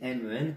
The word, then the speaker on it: 们: Ensuite, la prononciation est assez simple. C'est men comme men en anglais qui veut dire les hommes. Aucun ton chinois, aucun accent.